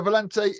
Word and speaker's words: Valente: You can pronounce it properly. Joseph Valente? Yeah, Valente.